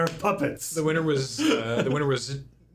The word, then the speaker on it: Tchia: The winner was Chia. Is that how you pronounce Chia, it? yeah, TCHIA.